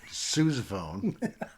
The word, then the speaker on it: sousaphone: Is that how you say it? How do you say it? Sousaphone. Sousaphone, okay. After the man who made all the marching music.